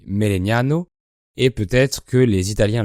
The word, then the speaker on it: Melegnano: En italien, elle se dit Melegnano, et peut-être que les